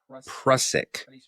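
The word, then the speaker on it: prussic: Um but this did contain um hydrocyanic acid been proic acid.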